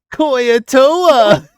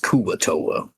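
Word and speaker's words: Kuo-toa: Koyatoa! Dr. Kirby, I feel like you should know that it's pronounced Kuatoa.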